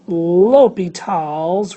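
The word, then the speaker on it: L'Hôpital: the rule is thing right there it's called l'hopital's rule that's pronounced l'hopital like utah l'hopital was a French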